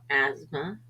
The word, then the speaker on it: asthma: example listen Castle fasten th is silent once in a while for example asthma or isthmus W is sometimes silent